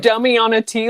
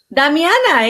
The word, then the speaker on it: damiana: flower yeah and uh is it pronounced dummy on a tea like that damiana yeah he said dummy